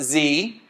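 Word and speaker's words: zie: And this is pronounced Z, Z-I-E, these are gender-neutral pronouns.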